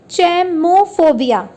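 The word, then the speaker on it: cheimophobia: So let's start with the first one, that is चैमोफोबिया या चैमाफोबिया। दो spellings है इसकी, एक है CHEIMO और दूसरी है CHEIMA। तो चैमा और चैमो दोनों ही बोलते हैं इसे।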